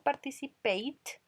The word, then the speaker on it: participate: Miren que participate escrito termina en E, pero cuando yo pronuncio participate, termina en T el sonido final.